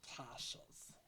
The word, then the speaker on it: cache: My leader said they were called caches.